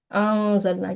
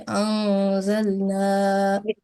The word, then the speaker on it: أنزلنا: So how should we pronounce this word now? If Anzalna, yes, with the light nasal sound, sustained nasal sound. Okay, Anzalna.